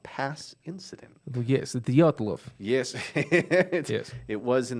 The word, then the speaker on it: Dyatlov: so correct me if I'm wrong it's the dock the yacht love pass incident yes Dyatlov yes yes it was in the Ural Mountains